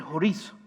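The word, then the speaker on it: χωρίζω: apartará me encanta porque en el griego es chorizo pero cuando se escribe se escribe chorizo así que nunca voy a olvidar de esa palabra en griego apartara porque chorizo y esto pesará el desayuno pero se dice horizon qué significa alejar o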